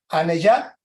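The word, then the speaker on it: anejad: La J se pronuncia como Y. Entonces, Aneyat, acá en esta M, tiene un puntito arriba, por lo tanto, es una especie de MN.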